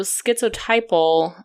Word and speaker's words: schizotypal: He diagnosed Dahmer with necrophilia, borderline personality disorder, and then I cannot pronounce this, or at least I don't think I can, but it's schizotypal?